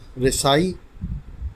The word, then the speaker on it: رسائی: کا لفظ ہے رسائی، جو درست ہے رسائی غلط ہے۔ اس کے معنی ہیں